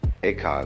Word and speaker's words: Eka: Eka is Japanese pronunciation, like Zen is the Japanese pronunciation of the Chinese Chan.